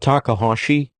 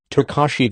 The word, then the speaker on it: Takahashi: Are you talking about Takahashi? CB, yes. Takashi, that's not a typo. She mispronounced the name after I said it.